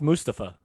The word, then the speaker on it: Mustafa: Tony, it's pronounced Mustafa.